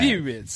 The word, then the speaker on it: Thewlis: Yeah. Thewlis. Yeah, it's just quite a simple last name. It's 2 syllables.